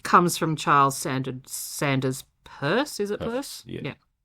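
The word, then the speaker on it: Peirce: It comes from Charles Sand Sanders purse.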